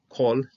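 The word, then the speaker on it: כָּל: and its closed syllable, it is pronounced O. Just simply, the reality of the whole matter is that kol is going to be used with an O sound almost all the time.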